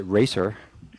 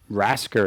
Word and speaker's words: Rascer: Some people people pronounce it Racer. Uh, DJ Racer. Oh, okay. But I was like, Rascer because it's like you rascal.